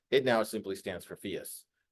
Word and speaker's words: PHIUS: It now simply stands for PHIUS. Rhymes with Prius, in case anybody's curious.